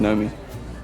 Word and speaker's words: Naomi: It's spelled Naomi, but pronounced Nomi.